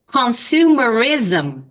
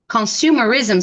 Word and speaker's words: consumerism: is the pronunciation any words in English end with this m and the pronunciation is z so repeat minimalism minimalism consumerism consumerism so the sound is like zum like this capitalism socialism